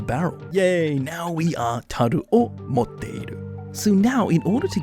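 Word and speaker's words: 樽: if you wanted the original japanese way of pronouncing it it would be taru so we have or taru meaning barrel in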